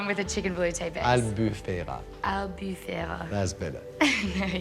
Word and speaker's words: Albufera: peas, and the sauce I've done is a albafuel sauce. I can't pronounce it well. It's with a chicken velouté base. Albufera.